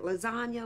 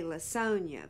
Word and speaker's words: LaSonia: well it's actually lasonia she pronounces it lasagna like the noodle dish but it's spelled l a n i a and S is capital most folks would just say lasonia but you know how